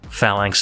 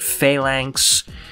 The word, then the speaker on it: Phalanx: In terms of pronunciation, Americans tend to pronounce it Phalanx, and Brits tend to pronounce it Phalanx. However, both seem to be acceptable on either side of the pond.